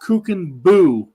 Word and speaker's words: Kuchenbuch: Carter, and I know the last name kind of looks like Kuchenbuch. It's actually pronounced Kuchenbuch.